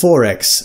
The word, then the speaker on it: XXXX: X is for XXXX (pronounced “four-ex”) — a brand of beer made in Queensland.